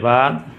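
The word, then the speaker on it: ب: अब इसके बाद देखिए कि जो तीसरा हुरूफ तहज्जी है अब ये अलिफ के बाद इसे कहेंगे बा। इसकी जो आवाज़ है इसको इंग्लिश, हाँ ये भी जो है बा।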